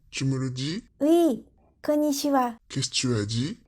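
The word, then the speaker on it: こんにちは: Tu mets un accent sur ko et pas chi. Konnichiwa. Konnichiwa. Si tu veux dire plus naturellement, tu peux moins prononcer ni. À la limite, après comme, tu dis i dans ta bouche sans trop sortir la voix. Comme, et tu ajoutes chiwa.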